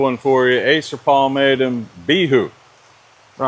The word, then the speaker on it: Bihou: Acer Palmatum Bihou. Bro, I heard it's pronounced Bihou, man.